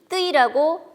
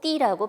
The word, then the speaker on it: 띄: 그래서 이것을 뜨이라고 지금 이제 일부러 이야기를 했지만 뜨이라고 발음하지 않고 띠라고 발음합니다.